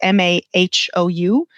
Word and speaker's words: Mahou: In Madrid it's Mahou, which is the If you're in Madrid, you'll see the name everywhere. It's m a h o u, but it's pronounced Mahou.